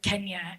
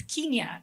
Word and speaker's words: Kenya: The immigration officer asked her where you're from, and she said Kenya. And he's like, do you not know even how to pronounce the name of your own country? It's Kenya.